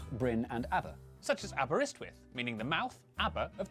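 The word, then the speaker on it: Aberystwyth: like Tre Lo Brin and abber such as abber iswith meaning the mouth Abba of the river iswith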